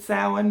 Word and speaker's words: Samhain: I will pronounce it Samhain because I'm Irish, and please, if you want to follow Irish paganism, it is a living language.